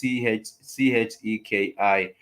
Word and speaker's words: Cheikh: I think it's pronounced the same way as Cheikh. Yeah, it's Cheki, and I'm yet to